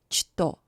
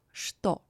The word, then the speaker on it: что: One more combination, Ch, T, pronounced as шт. For example, in the word что. Not что, but что. Next combination, Ch and N, pronounced as шн.